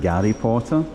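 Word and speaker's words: Гарри Поттер: So, it's quite funny that the G the H is pronounced like a guess. So, it's like Gary Potter.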